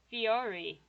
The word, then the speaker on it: Fiore: like the singular form it is pronounced like the plural form fiori and his personality is